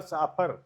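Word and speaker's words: chauffeur: इसका प्रोनंसिएशन होता है साफ मोटर चालक हैं।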